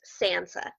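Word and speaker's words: tsantsa: heads Sansa okay spelled TS n TSA but pronounced Sansa right and that's the word for victory power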